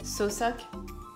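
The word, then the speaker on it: Southwark: s'écrit sauce work mais ça se prononce encore une fois sans le w donc on va dire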